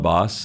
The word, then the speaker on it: Bosse: Then you got John Boss, and pronunciation is John Boss. I know we called him John Bosse last year, but got confirmation that he prefers John Boss as his pronunciation.